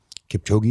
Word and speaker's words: Kipchoge: You talk about a runner who gets really good at running, Kipchoge is how you say his name.